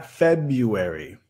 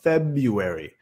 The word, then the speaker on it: February: February. February. Otra vez el primer sílabo estresado. February.